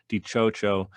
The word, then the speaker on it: DiCioccio: um my name is last name is pronounced di chocho and it's spelled d-i-c-i-o-c-c-i-o so all my social